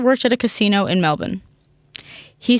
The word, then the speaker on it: Melbourne: Can I just say you sounded so Australian when you said Melbourne? Melbourne. That's how you pronounce it. No, I know, but people here say Melbourne.